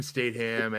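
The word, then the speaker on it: Statham: streaming because it's Jason statam and a lot of other good actors and actresses and you pronounce the T it's STM you son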